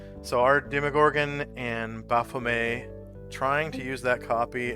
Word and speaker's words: Baphomet: Are Demogorgon and Baphomet trying? Or it's actually pronounced Baphomet.